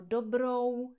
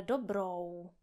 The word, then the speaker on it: dobrou: Takže třeba ve slově naschledanou nebo dobrou noc. Abyste neříkali naschledano, ale naschledanou. Abyste neříkali dobro, ale dobrou.